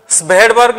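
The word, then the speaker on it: Svedberg: unit एठी mark कर मु भेडबर्ग लिखुची किंतु भेडबर्ग कहूची एस टा साइलेंट रहउची सो सही एस जो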